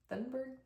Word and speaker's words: Thunberg: Thunberg is the way that her name is spelled, but she's Swedish. She's from Sweden, so her name is pronounced in a much more sophisticated way than I was able to say it.